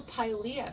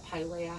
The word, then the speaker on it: Pilea: is actually from the pailia family pailia pilea however you want to say it i think pailia would be the technical lat correct latin pronunciation um so this one